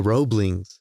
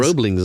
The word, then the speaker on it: Roebling: Yeah, the Roeblings, and they go and they build the bridge. I really hope that I'm pronouncing it right. It's spelled ROE, so Roe, BLING. Yeah, Roeblings.